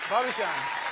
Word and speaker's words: Varjan: Is it Varjan? Yes. I pronounced it right? Varjan.